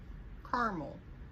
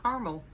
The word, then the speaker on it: caramel: do you pronounce caramel caramel i skipped the a the second a i just that a doesn't exist to me i just caramel and then what do